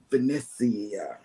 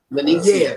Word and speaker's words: Venezia: I know that you're on the Venetia. Mhm. Venetia. You gotta say it like that, John Hill. said. Venetia. Venezia.